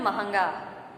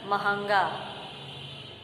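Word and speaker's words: महँगा: इसके बाद है महंगा, जबकि शुद्ध उच्चारण है महंगा। अशुद्ध वाले में आप देखेंगे कि म के ऊपर अनुस्वार लगा है, लेकिन सही शब्द जो का उच्चारण होगा वो हमारा है महंगा, यानी ह के ऊपर अनुनासिक का यानी चंद्र बिंदु का प्रयोग किया जाएगा।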